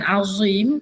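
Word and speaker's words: عظيم: Cuba sebut perkataan azim. Dia macam mana pronounce dia? Azim. D tu dia kena keluar lidah sikit.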